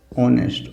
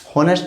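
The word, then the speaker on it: honest: है, इसको बोलेंगे हम ऑनेस्ट बोलेंगे, क्या बोलेंगे, इसको हम बोलेंगे ऑनेस्ट, ऑनेस्ट। ओ से बोला गया, क्या आ जाएगा, एन ऑनेस्ट, होनेस्ट नहीं, ऑनेस्ट। कई शब्द हैं जो एच से बोले जाएंगे, एच साइलेंट होगा, ऑनेस्ट, आवर, ऑनर, ऑनरेबल, ठीक है।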